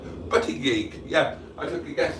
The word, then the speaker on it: Buttigieg: And asked Boaty to pronounce my surname, that's how it should sound. Buttigieg, yeah, I took a guess at that and apparently I got it right.